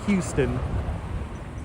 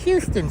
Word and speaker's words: Houston Street: Not Houston. This is Houston Street.